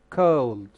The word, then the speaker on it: cold: not cold okay cold cold like boat like go and this one is